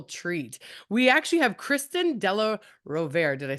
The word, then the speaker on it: Della Rovere: We actually have Kristin Della Rovere.